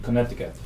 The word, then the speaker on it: Connecticut: at her range in Connecticut. Connecticut. Connecticut. You're fine. But the other way is how you spell it. Connect. I can't spell it if I don't say it.